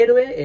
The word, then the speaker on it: héroe: diptongos a en sílabas De héroe es e ro e se separan la o y la e Porque son dos vocales abiertas y dos vocales abiertas siempre forman yato y la separación en